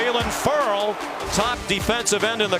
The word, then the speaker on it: Ferrell: Did tell us early in the year it's pronounced Ferrell, like referral.